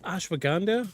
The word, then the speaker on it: Ashwagandha: Ashwagandha. I'm pretty sure that's how it's pronounced.